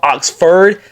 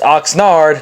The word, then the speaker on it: Oxnard: Tok one of them Oxford not Oxnard I will get I completely butchered it so my bad and know Cowboys fans were roasting me on the comments it's Oxnard not Oxford my fault my fault